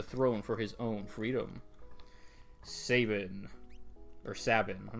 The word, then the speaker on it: Sabin: pronounce no you can you can spell out the pronunciation like if it was Saban like the way I say it you would spell it s-a-y-b-i-n Sabin but if it's like